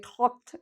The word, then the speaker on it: talk: I talked to my friend. We don't pronounce the L.